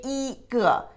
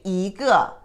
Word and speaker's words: 一个: But this word together, when you put together, 一 put ahead of, in front of the fourth tone character, it pronounced as second tone. 一遍, 一个. You don't say 一个, you say 一个.